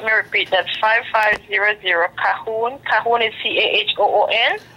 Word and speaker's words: Calhoun: It's spelled C as in Charlie, A as in Alpha, L as in Lima, H in Hotel, O as in Oscar, U as a uniform, N as in November.